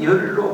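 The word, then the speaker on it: 說: 학이 시습지 부력 열호 배우고 그리고 때맞게 배운 내용 그것을 복습을 하고 학습을 하면 또한 기뻐지 아니한가 여기 썰은 열로 발음해서요. 기쁠 열자입니다.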